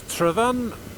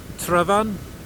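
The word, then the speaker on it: Tryfan: snow and there's infamous travan where I give my usual and regular uh instruction and pronunciation travan not travan or truen or Tren or something like this just travan there you go if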